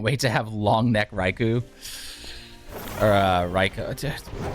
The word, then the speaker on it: Raikou: Can't wait to have long neck Raikou. Or Raikou. I say Raikou like the Japanese pronunciation.